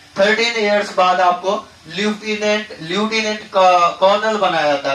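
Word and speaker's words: lieutenant: भाषा में जानते हैं, हमारे देशज लैंग्वेज में आप लेफ्टिनेंट बोलते हैं, मगर इनका प्रोनाउंसिएशन जो है ना ल्यूटिनेंट होता है।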